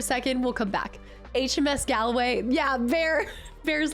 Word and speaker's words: Galway: Galway is pronounced Galway. Oh, like Galway. Okay. Yeah, like Galway girl.